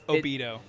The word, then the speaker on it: Obito: Okay, chat, honestly, how is he actually supposed to be pronounced? It's Obito.